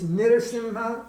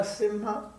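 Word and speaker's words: Narasimha: India not a singer nobody says Sing symbol it's nirasimha not a simha and have you ever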